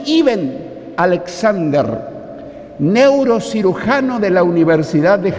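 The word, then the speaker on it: Eben Alexander: podéis ver la historia se escribe en alexander y se pronuncia y ben alexander neurocirujano de la universidad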